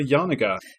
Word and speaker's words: Janega: I'm going to try my hand at pronunciation once more. It's Janega.